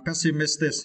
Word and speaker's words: pessimistic: And for the next word, pessimistic, it is adjective. And for this word, you need to stress the third syllable, miss, right?